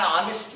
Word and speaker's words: honest: So here word is started from H. H is, you know very well, this is one of the consonant, but here become silent. H becomes silent. So words pronunciation start from vowel sound.